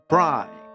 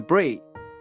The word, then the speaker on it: Bree: Someone who I pronounced as Bri throughout the first email, so my sincere apologies to Bree.